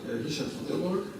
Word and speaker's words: Richard van Tilborg: I pronounce it in Dutch like Richard van Tilborg, and I'm responsible for the marketing part of it.